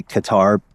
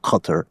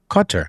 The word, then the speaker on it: Qatar: in the Western world, it's okay to say Qatar. People know what you're talking about. The correct pronunciation, from what I understand, is something more like Qatar. Qatar.